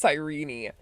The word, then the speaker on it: Cyrene: I hate that it's actually pronounced sirene.